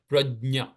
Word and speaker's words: prajna: So that ja and nya coming together becomes nya. So that's prajna, technically.